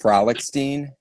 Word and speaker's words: Frolichstein: Frolichstein.